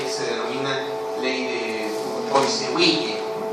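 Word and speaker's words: Poiseuille: Uno de los determinantes del flujo está regido por una ley que se denomina ley de Boissewille. Es francés, no se pronuncia Poisson. No Poisson, Poisson.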